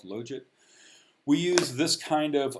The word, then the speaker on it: logit: link function um first of all it is pronounced logit i think there was about an eight or nine year period of my life where i kept on calling it a logit because it spelled log it as far as